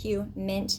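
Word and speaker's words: HUMINT: It's spelled like human, but h mint like you know you eat that herb mint.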